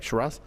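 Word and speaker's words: Sheeraz: talks about like for example when Berlanga fought Sharazz. Did I say it right? Sharass.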